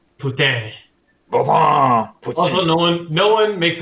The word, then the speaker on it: poutine: Yeah, but they yell at you if you say poutine. That's not how it's pronounced. Poutine.